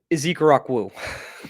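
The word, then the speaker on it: Ezeiruaku: I believe it's Donovan Ezekarakwụ.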